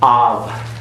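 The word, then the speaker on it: אב: Av. It's halfway between a V and a B. Halfway. Okay, it's aspirated.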